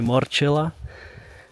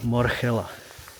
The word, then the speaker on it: Morchella: by a friend that the pronunciation of this species should not be Morchella but Morchella, and I think it makes sense because it's Latin and not English pronunciation of the scientific names.